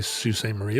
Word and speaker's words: Sault Ste. Marie: Well, I would say Sault Ste. Marie.